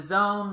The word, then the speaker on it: AZN: fights paramount Network the zone which had spelled the AZN but they pronounced it to zone I don't get it